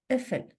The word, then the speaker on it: قفل: أو pot lock قفل قفل قاف is pronounced as a glottal stop قفل doorknob or door